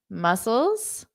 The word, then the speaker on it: mussels: Have you ever had mussels? They are delicious. Okay, so it's the exact same pronunciation if it were plural.